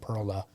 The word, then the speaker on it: Perla: Pearl Street they uh they say Perla right that's how you say it in Spanish so they say Perla